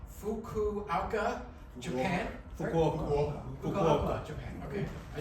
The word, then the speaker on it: Fukuoka: in, I'm gonna make sure I get this pronunciation correct, Fukuoka, Japan.